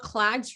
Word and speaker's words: KLADZ: do you pronounce it so it is called clouds resources it's www dot k